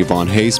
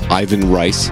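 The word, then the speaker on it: Ivan Reis: of vivan Hayes's art I'm saying Yvonne Hayes because he's Brazilian so I'm assuming you pronounce that with a Portuguese accent but Ivan rice if you prefer we're both big fans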